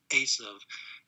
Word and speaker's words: Esau: they don't say uh they don't pronounce it esau they pronounce the the v sound uh and they say asav it's lucky it's actually a